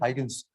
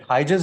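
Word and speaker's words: Huygens: hygiene some somewhere like you can pronounce it as like heightens but hijaz is the proper pronunciation okay in 1678 christian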